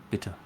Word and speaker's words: bitte: Um, again the first syllable is the emphasized one. Bitter.